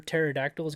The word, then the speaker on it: pterodactyls: why you can't hear pterodactyls go to the bathroom why because the pee is silent that's good they could